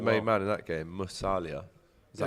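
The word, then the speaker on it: Musiala: Musalia. Is that how you say his name? Yeah, Musalia.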